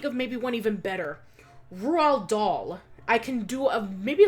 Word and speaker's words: Roald: And if you're wondering why I'm saying Roald Dahl and not Roald Dahl, well, that's because it's pronounced Roald. I read his biography, and it actually says it, like, in the first page.